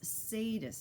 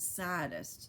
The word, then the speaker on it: sadist: what you're talking about that's sadist not saddest you know charles wallace said and giggled again lots of people don't pronounce it correctly well i don't care